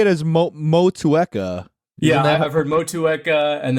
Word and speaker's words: Motueka: I always say it as Motueka.